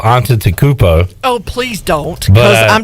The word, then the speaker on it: Antetokounmpo: Antetokounmpo. No. Try again. Antetokounmpo. No. There's no B in there. There's not a B in there. It's a P. Antetokounmpo.